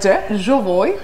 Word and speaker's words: Jovoy: what you would naturally think but um but jooy jooy May Fair and uh it's a very